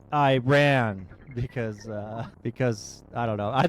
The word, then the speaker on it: Iran: This woman wants to teach us how to pronounce Iran because I don't know.